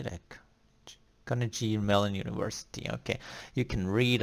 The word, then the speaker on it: Carnegie Mellon: not get up so you what is this carnage mellon university can Negin incarnate how do you say that Carnegie Mellon University okay you can read a lot of